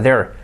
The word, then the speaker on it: there: was a fire there there pronunciation important your tongue between your teeth when you when you say there there was a fire